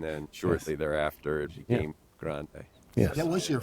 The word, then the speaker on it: Grande: She Next actually, year, I think, she's- pronounced her last name differently when she was Grenade. in Hershey. Yeah, when she was at Hershey, yeah, I remember Yeah, that. and then shortly thereafter, it became Grande.